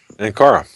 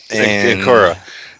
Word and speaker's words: Ankara: in airports in, let's see if I can pronounce this right, Ankara? Ankara, yeah. Ankara.